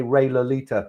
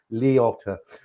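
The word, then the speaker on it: Liotta: He said, and they say Ray Lolita. That's not It's not Lolita. It's Leota.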